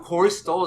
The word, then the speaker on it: Corey Stoll: how to Corey pronounce Stoll. his name? Corey Stoll. Stoll. We looked this up last time. Corey Stoll is playing Uncle Junior, who didn't know that.